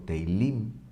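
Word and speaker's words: תהילים: Se dice teilá o teilim, se dice himnos en plural.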